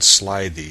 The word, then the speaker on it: slithy: The I in slithy is long, as in writhe, and toves is pronounced so as to rhyme with groves.